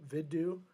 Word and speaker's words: Vidu: I think it's supposed to be like vid do vidu vidu. Spell it again. Vu. Studio. Okay. Vidu. Think of it like video university studio.studio.